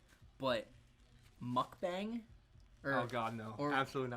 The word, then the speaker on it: mukbang: I don't think You that's what a hear- mukbang is. You hear them just, like, chewing. Is that how you pronounce it?